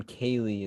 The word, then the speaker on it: Kayleigh: can they find you on youtube your name kaylee is spelled with a gh would you like to